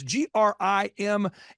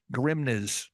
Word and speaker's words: Grimnes: your last name it's g r i m NES so someone's going Grimes Grims Grim you got it the first time if you add s you will pronounce it correctly yeah so think of